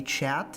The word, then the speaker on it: chat: We also do get a chat in the shop, or I think it's in French pronounced only cha.